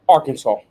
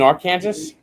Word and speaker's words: Arkansas: Uh, Arkansas. You said it correctly. You're breaking, brother. Oh, you mean our Kansas.